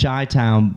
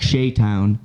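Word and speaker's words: Chey Town: Yeah, their name Damn, is Chi-Town, but her name is spelled Chey, which looks like Shaytown. Yeah. All right. And so Bob said Shaytown.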